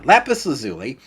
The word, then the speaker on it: lapis lazuli: macerator to grind up lapis lazuli or how do you say this lapis let lazuli lazuli that's how you should say it yeah lapis lazuli and the reason I've